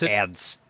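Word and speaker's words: Adsit: I never know how to pronounce his last name. Add Ads. Ads. Ads. Ads. It sounds like I'm sneezing or I got like a thing in my nose, but like I love Exactly.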